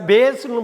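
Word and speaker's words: bass: ரெண்டாவது டியர், அதே ஸ்பெல்லிங் உள்ள வேறு உச்சரிப்பு உள்ள டியர்னா கண்ணிலேருந்து வர்ற கண் துளி. அடுத்து நம்ம பார்க்க போகிற ஹோமோகிராஃப் பிஏஎஸ்எஸ். பிஏஎஸ்எஸ்ஸை பேஸ்னு படிக்கலாம், பாஸ்னு படிக்கலாம்.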